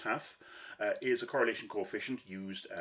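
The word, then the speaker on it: tau: Kendall's TAF, T-A-U, pronounced TAF, is a correlation coefficient used as it's a rank-based correlation coefficient.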